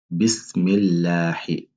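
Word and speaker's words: بسم الله: Il faut prononcer le la de façon légère. Bismillahi, Bismillahi.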